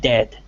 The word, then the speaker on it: dead: Beware of heard, a dreadful word that looks like beard and sounds like bird, and dead, it is said like bed, not bead. For goodness sake, don't call it deed.